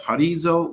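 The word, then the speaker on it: ὁρίζω: As a matter of fact, the word is the Greek word G3724, which means horizo, or pronounced as horizo, which means a place that is marked out or has bounds.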